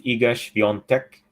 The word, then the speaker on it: Iga Świątek: So it's Iga Świątek. Iga Świątek.